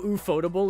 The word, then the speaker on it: ufotable: But it's kind of like, you know how ufotable is technically supposed to be pronounced UFO-table? And everyone collectively went, that's the dumbest thing I've ever heard.